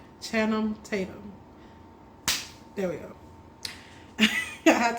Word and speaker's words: Channing Tatum: Chatham. I still want to say his name because I want to get it right. Channing Tatum.